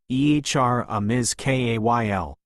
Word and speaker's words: Aramis Kale: Their banter was interrupted by a messenger from the familiar Rugal Council, personally overseen by Aramis Kale, pronounced Ehr Amiz Ka L, Lord Eric's most trusted adviser.